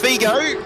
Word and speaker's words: Figo: footballer Louis Figo is it Albert oh it's pronounced Figo but uh anyway it's uh it's in the